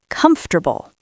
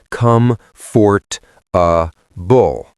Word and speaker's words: comfortable: If you read it, it looks like come fort a bull. Four syllables. I hear come for a bull so often. It sounds very stiff. This chair is not comfortable. In American English, we engage the schwah and the stress. It becomes three syllables. Comfortable. Sometimes even two and a half.